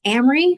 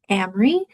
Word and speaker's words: Amery: Amry rhymes with Camry like the car if that helps. It's a short a not like Amy. So, Amry and is the last name.